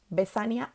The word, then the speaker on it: vesania: son sinónimas ah y son palabras graves vesania e infania no se tildan terminan en vocal la siguiente también es